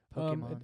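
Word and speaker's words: Pokémon: it Pokemon Pokemon yeah the E with that accent makes an a sound I think everyone Pokemon Pokemon I guess it depends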